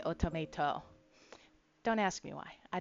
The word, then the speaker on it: Otomate: It's spelled automate like that, but they say automato.